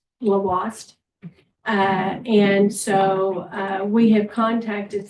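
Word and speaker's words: Lhoist: We say La Hoist, but it's pronounced Lavoist.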